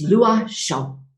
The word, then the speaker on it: Loichot: i'm going oh my god how do i pronounce this name she's like i got you it's lua and i was like awesome now stella you